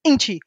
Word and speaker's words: Nkyi: He says, my name's not Nkyi, it's Nkyi. And I had to remind myself how to say it because I was going to talk to his mum. So I taught myself Nkyi Spider.